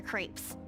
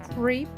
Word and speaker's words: crepe: that totally stuffs their crepes do you want to split one um sorry about that but seriously I kept understanding creep instead of crepe which is how you pronounce that but yes whatever